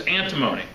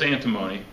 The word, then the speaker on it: antimony: moment okay sb is antimony okay now here's how you remember that listen i don't want you to forget and again i shouldn't be recording but sb is antimony antimony rhymes with alimony and if you have